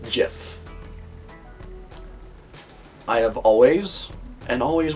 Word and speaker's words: GIF: file says it's pronounced GIF. I have always and always will refer to it as a GIF because it's not peanut butter and it's not spelled with a J.